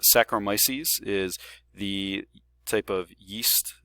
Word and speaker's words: saccharomyces: go through fermentation and you can see i mispronounced a little bit but it's saccharomyces is the type of yeast that organism that